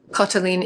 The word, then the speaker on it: Katalin: Katalin is the Hungarian equivalent for Catherine and you might be noticing that an A with no accent in Hungarian is darker than the A sound in a lot of other languages and Rix gives the